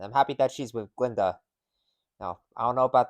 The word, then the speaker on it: Glinda: Glinda, the G is silent. Hello, Glinda.